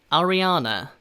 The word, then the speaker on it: Ariana: Ariana 아시겠죠? 아리아나를 조금 그 R 발음을 살려서 Ariana 라고 발음을 하고요, 뒤에 이 발음, 뒤에 커피컵 종류인 Grande 라고 발음합니다.